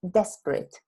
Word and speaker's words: desperate: the noun is desperation so the typical mistake that we make Spanish speakers is to think that is we have an extra syllable in Spanish in English is desperate desperate desperation you see so that is an